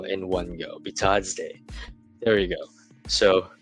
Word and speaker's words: Bitadze: And then Goga Bitadze, Bitadze, I should say, sorry. I really couldn't pronounce his name right in one go. Bitadze.